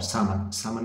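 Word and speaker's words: salmon: इस तरह डियर, इस तरह कॉर्ड, ट्राउट और सामन में ये एल साइलेंट है, ये तीनों फिश है।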